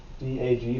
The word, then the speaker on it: DAG: graph which is abbreviated d-a-g for directed acyclic graph and people people really honestly say dag i mean they'll pronounce it that way um this is much